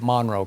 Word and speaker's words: Monroe: That's how you say it, Monroe. Because when I was there, I thought it was Monroe, but they say Monroe, right?